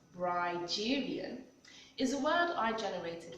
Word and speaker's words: Brigerian: on being bride Julian rigerian pronounced ryderian is a word I